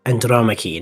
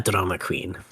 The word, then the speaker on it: Andromache: It's pronounced Andromache, not a drama queen.